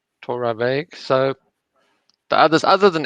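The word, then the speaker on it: Torabhaig: what it is so the a is pronounced so torah vague torah veg so the others other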